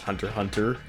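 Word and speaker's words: Hunter × Hunter: By the way, y'all, the X is never pronounced if it's in the middle of a game or anything.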